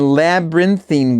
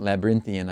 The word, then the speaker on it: labyrinthine: I fled him down the labyrinthine ways. You can pronounce it labyrinthian, I guess.